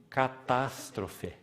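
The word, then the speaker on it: καταστροφή: A palavra para subversão ali, na língua original, é catástrofe. E ela é pronunciada exatamente assim, na língua original. Catástrofe.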